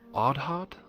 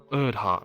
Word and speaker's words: Erdhart: Is Lord Ardhart? Or how you say it? Erdhart. Erdhart. That's right.